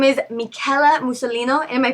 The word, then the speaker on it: Michela Musolino: Her name is Michela Musolino. Am I pronouncing that correct?